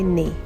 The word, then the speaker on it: knee: year two this week the spelling rule is the MM sound spelt with KN and GN at the beginning of words knock knock on the